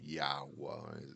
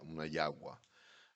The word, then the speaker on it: jagua: Um, you know, it's it's called a jagua, you know, and that's actually how you really pronounce it. It's not, you know, Yahwa is Yagwa.